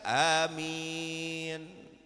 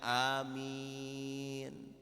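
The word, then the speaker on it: آمين: Ingat ya, alifnya panjang mim minnya dua harakat karena ada ya sukun. Amin. Awas jangan salah bacanya. Kalau Anda pendekkan alifnya amin itu artinya orang yang jujur. Makanya Nabi Muhammad dijulukin apa? Amin. Orang yang jujur, yang amanah.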